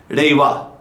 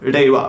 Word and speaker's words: Reiwa: mixing R and L, but R in Japanese is actually sort of like a hard D sounds, like Reiwa. Like Reiwa, right?